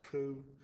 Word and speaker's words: coup: Census, Tullia, coup, that's pronounced coup.